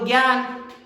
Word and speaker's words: ज्ञान: तो उसके हिसाब से तो बच्चा सही लिख रहा है, पर इसका उच्चारण ज्ञान होता ही नहीं है। इसका उच्चारण क्या होगा? ज्ञान।